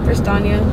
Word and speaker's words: Prestaina: Prestaina.